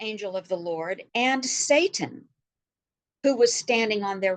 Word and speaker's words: Satan: All right, so Satan, more commonly pronounced as Satan, means adversary. And it is a Hebrew word, an untranslated Hebrew word pronounced Satan.